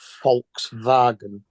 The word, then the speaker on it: Volkswagen: over again I mean Volkswagen in German is pronounced Volkswagen it just means people's car yeah yep it